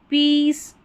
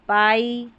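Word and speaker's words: pie: Field पीस chief brief.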